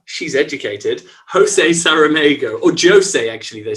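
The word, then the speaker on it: José: By Portuguese author, she's educated, Jose Saramago, or Jose, actually, they say in Portugal, not Jose. Jose is Spanish, it would be Spanish. Jose, you pronounce the J in Portuguese.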